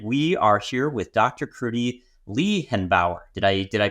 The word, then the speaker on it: Kruti Lehenbauer: Kruti Lehenbauer. Did I pronounce that okay?